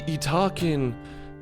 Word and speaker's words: Yttakin: The Italkin. Yes, that is how you pronounce their name.